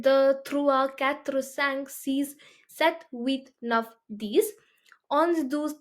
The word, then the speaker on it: sept: is six, 7 is sept. The P in this is not, you're not going to pronounce that, okay? It's silent.